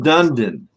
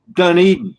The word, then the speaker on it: Dunedin: It's in Dunedin, Florida. Dunedin. Oh, Dunedin. Dunedin. Is that how it's pronounced?